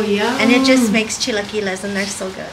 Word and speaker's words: chilaquiles: And it just makes chilaquiles, and they're so good.